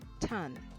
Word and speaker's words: tan: pronounce c-o-s cos and for the tangent we have a shortened version which we pronounce as tan t-a-n all right now each